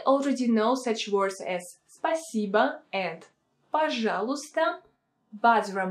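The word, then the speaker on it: спасибо: personal you can add a pronoun for example spiciba tibia spiciba cb in informal situations or spiciba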